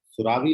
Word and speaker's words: सुरवी: सुरावी, सुरावी लिखते हो, सुरवी पढ़ती हो उसको? सुरवी? यस सर। क्या तुम प्रोनाउंस क्या करते हो, सुरावी की सुरवी?